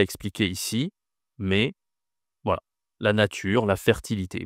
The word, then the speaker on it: mai: La pensation ici, c'est mais mais c'est le son hein, c'est la voyelle. Et mais attention, ce n'est pas ma Attention à ma. Dans certaines langues, on dit ma mais ici on dit mai.